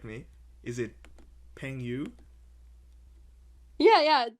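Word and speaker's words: 朋友: Okay, you're gonna have to forgive my pronunciation here. Feel free to correct me. Is it Peng Yu? Yeah, yeah, 朋友. Peng Yao.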